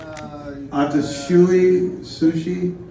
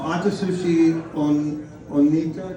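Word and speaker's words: Atsushi Onita: adopted by the Japanese professional wrestler can you pronounce his name atoui Sushi no no no atushi on onita do you know onita right used by the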